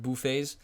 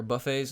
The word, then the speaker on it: buffet: Fett I think of bouet or Buffet I don't know how however you guys pronounce it I think the correct pronunciation in English is uh bouet but uh never mind